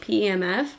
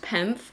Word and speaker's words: PEMF: the full sized pimp mat and I was pronouncing it pemf but it's just pronounced penf I am going to be sharing with you